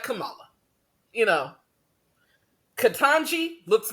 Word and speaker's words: Kamala: as if it's hard it is pronounced exactly the way it's spelled so I don't understand why y'all that up in all fairness I watched kamala's first speech just to